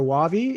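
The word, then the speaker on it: Wavi: by a company called i don't know if they say wave your wavy it depends i've heard two people two different pronunciations of it but it's w-a-v-i and they're based in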